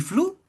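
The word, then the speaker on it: Flew: Un ejemplo famoso es el de Anthony Flu. Flu se escribe F L E W, por si acaso.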